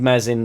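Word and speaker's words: Meslier: he's got really big mezz in that silent s shackleton right back cooper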